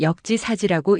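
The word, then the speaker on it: 역지사지: 이건 역지 사지라고 읽는 한자란다.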